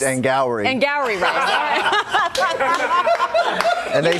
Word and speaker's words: Angourie: You said it that because you didn't know how to pronounce her name. I don't. It's Angourie rice? It's Angourie.